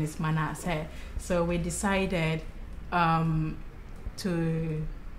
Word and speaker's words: Manessah: The pronunciation is Manessah.